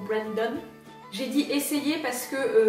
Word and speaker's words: Brandon: l'ascension du mont Brandon j'aurais tendance à le prononcer à la française mais je pense qu'on est censé dire mon Brandon j'ai dit essayer parce